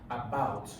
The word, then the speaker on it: about: About. You see, the about has the longer stress.